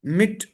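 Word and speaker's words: Mitte: इसको बोलते हैं बिट्टे, मिट्टे, डांके। बेसिकली ये प्रोनाउंसिएशन गलत है, ये बनता है बिटा, मिटा, डांका। तो इसलिए इसको श्वा कहते हैं।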